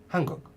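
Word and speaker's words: 한국: hunger and when it's on its own it's pronounced Hankook Korea but when this word is put with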